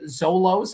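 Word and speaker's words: Xolos: previous Club played for the zos I think that's how you pronounce that it's x o l oos FC MN club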